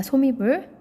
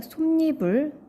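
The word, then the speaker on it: 솜이불: 여러분, 소미불이라고 하나요? 솜니불이라고 하나요? 자, 소미불이에요? 솜니불이에요? 선생님 마음대로 할 수 있는 거 아닌가요? 이렇게 생각할 수도 있겠지만 표준 발음법에 의하면 솜니불입니다. 즉, 니음 청가가 발생한 발음을 표준 발음으로 인정하고 있어요.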